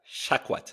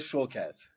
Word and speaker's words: Shawkat: It's spelled Shawkat. Aaliyah Shortcat. Shawkat. Shortcat. But Aaliyah Shawkat.